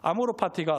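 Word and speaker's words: amor fati: 사랑이라는 것은 알고 있어서 아모르파티가 사랑 파티인가 보다 이렇게 여겼는데이 아비투스라고 하는 책을 읽어 보니까 아모르파티가 정확하게 발음은 아모르파티 이렇게 되어 있더라구요 파티가 운명입니다 운명을 사랑한다는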